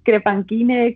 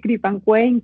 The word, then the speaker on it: Crepanquine: gente que lo lee Crepanquine, Creepanquine, Crepanquine. Sí. Sí, da mucha sonoridad. Al final creo que en inglés se ha quedado Creepanquine y en español se ha quedado como Crepanquine.